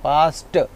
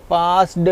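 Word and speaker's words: passed: पास्ट पास्ड नहीं पढ़ना। टी की साउंड आएगी। याद रखना यहां मैं टी प्रोनाउंस कर रहा हूं।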